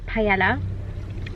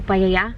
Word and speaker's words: paella: Someone told me off for saying it wrong um on YouTube. I think it was I don't know. Paella. How else do you say it? If you're English, you would say paella.